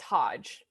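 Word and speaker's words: Hodje: of plays but anyway her musical name is not maggie it's hodge it's spelled h-o-d-j-e um i'll link it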